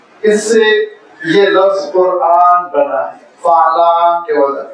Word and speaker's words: قرآن: کی وجہ سے کہ ہم قرآن کہتے ہیں، قرآن نہیں کہتے۔ مد ہے، حمزے کا تلفظ ہے، اور جب ہم اس